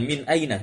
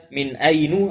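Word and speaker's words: مِنْ أَيْنَ: dimasuki oleh harful Jar sehingga bentuknya demikian Min Aina tidak ada dibaca Minu atau Min Aini se membacanya langsung Min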